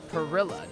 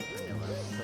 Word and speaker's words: Perilla: P-E, Perilla, not Pernilla.